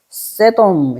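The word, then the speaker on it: סדום: 세돔 이렇게 돼 있어. 소돔. 세돔. 발음 그대로 그냥 적으면 돼요.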